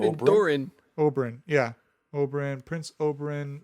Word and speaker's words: Doran: We are introduced to Doran, who is what's his face's brother? There was some creativity in the naming. Dorn and Oberyn? Doran.